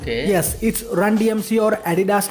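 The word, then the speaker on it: Run-DMC: मिला था, और आज रन DMC को लेजेंडरी क्रू मानते हैं हिप हॉप में। और इस ग्रुप का प्रोनाउंसिएशन ऐसा ही है, तो कमेंट सेक्शन में मस्ती नहीं। ये भी सही है।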